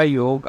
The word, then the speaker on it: योग: लोग बोलते हैं कि हम योगा करते हैं योगा नहीं होता है योगा बोलने से आप ए आसन फालतू नहीं करते हैं यह योग होता है ठीक है सो pronounce it correctly योग योग क्या होता है